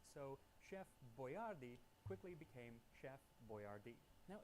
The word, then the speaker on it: Boyardee: So he started spelling it out phonetically, Boyardee. And unfortunately, they didn't specify where the accent was, so Chef Boyardee quickly became Chef Boyardee.